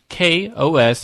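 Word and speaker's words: kOS: you tell Biff that K OS is pronounced with a K and then an OS as in chaos chaos chaos and you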